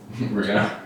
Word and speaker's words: Renault: Wait, how do you spell that? Renault mas. R N A U L T. Reno.